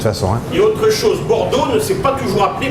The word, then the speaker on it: Bordeaux: Et autre chose, Bordeaux ne s'est pas toujours appelé Bordeaux. Avant, ça s'appelait Bourdeaux. Oui, c'est la prononciation de l'époque.